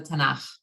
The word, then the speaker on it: Tanakh: Yes, I mean, it's probably easy for you to say it because the ch sound is something that's common in Islam, but I know some people have a hard time with it, but we pronounce it the Tanakh.